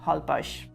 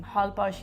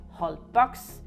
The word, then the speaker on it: Holbox: eat and some other good travel tips about Hull Bosh this it is a little bit funny the way the name Hull Bosh is spelled because you would normally pronounce it whole box but the Mexican pronounce it hauled Bosh hi